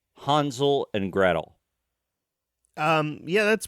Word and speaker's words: Hansel: my bad side from the get-go because I pronounced it Hansel and grle Hansel Hansel and gr Hansel and grle Hansel and grle and then I had to be corrected H it's it's hansul and gret I'm like what and none of